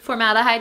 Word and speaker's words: formaldehyde: know, like when I hear that they're using formaldehyde, is that how you say it? Formaldehyde, yeah.